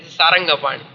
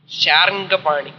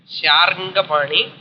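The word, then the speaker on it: शार्ङ्गपाणि: At last they are all called Sarangapani. Sharangapani, that is actually. Sharangapani. The pronunciation custom சொல்லி எல்லாருமே Sarangapani, Sarangapani.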